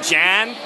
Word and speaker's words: John: Also, we pronounce his name Jan, because Jan.